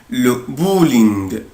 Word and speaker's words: bowling: le bowling. le bowling. أنا هنا يا ولاد بنطق ال OW بنطقها أو، يعني بو. bowling.